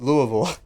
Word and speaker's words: Louisville: It's Louisville. It's exactly how you pronounce it, C&K.